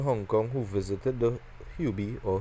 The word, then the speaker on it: Hubei: say people in Hong Kong who visited the hubie or Hubei or you by over pronounce it and our Province in China will